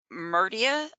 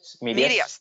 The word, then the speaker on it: Medius: We use Meridius, how do you say that? Medius? Medius, thank you.